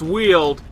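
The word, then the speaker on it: Weald: up in the wheeled i did find out it's pronounced wheeled he shows up in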